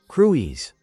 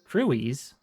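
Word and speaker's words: Crwys: Crewies. Crewies. Crewies. Sure. Okay. Is that first glance? Crew s crewies.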